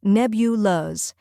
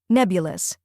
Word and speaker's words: nebulous: the correct pronunciation is nebulas let's break it down first we have neb which rhymes with web and is the stressed syllable next is yah which